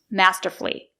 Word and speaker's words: masterfully: has done masterfully unbelievably do not say masterfully Do not pronounce it with four syllables it's a three syllable word masterfully I'll give you an